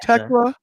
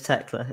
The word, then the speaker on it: Thekla: The name Teela is pronounced Techla. It's Techla, is it?